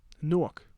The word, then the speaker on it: Newark: Newark.